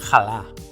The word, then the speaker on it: halar: La h només es pronuncia, de manera aspirada, en certes onomatopeies, per exemple, per representar el riure: ha! ha! ha!; en el verb halar, que, col·loquialment, vol dir menjar; i en mots d’origen